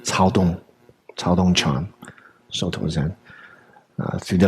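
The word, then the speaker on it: Caodong: Irrespective of what we may think of Cao Dong, it's pronounced Cao Dong Chan, Soto Zen, through the lens of the kind of Japanese transmission.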